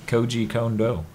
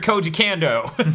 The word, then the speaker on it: Koji Kondo: Yeah, it's Koji Kondo.